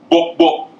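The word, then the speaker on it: gbogbo: It's spelled G-B-O-G-B-O. So whenever you see the G, it's a hard "bok."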